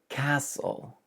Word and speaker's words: castle: Number 19, castle. Forget about the T and this will kind of make sense.